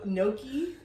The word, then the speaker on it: gnocchi: That's like me with gnocchi. Oh, yeah. Gnocchi. I'm like, gnocchi. The G is silent.